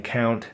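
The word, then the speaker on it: compt: out here I'm saying count uh for this word that is spelled c o u m PT it really is just count they would have probably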